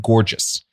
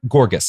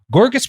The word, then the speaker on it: Gorgas: effort was Dr William gorgeous born gorgas I guess g-o-r-g-a-s I don't think it's pronounced gorgeous born in Alabama in